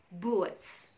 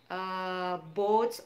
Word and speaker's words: boots: So double O di situ diucapkan U, boots. Ya, jadi kita tidak mengucapkannya boats or buts.